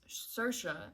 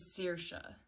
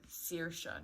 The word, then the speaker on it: Saoirse: haul linked here i said her name was sercia and i had thanked cersa ronan for telling me how to pronounce her name meanwhile like two pages in she goes her name is searsha so seersha not sercia and it's actually a fun little